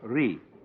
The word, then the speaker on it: Ri: Second, the world that is called Ri, R-I.